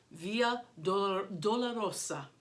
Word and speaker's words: Via Dolorosa: And sometimes the S is voiced and sometimes it is unvoiced, but right now I'm going to say Via Dolorosa.